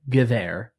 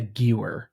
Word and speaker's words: Gewehr: Well, I mean, everyone knows that a W in German is not pronounced like an English W. It has a V to it. So it is the Gewehr, not the Gewer, as you like to call it.